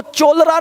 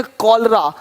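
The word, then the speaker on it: cholera: चेम नहीं पढ़ेंगे केमिस्ट अब देखो चोलर नहीं पढ़ेंगे चोले इसको पढ़ेंगे कलरा कलरा हो गया देख रहे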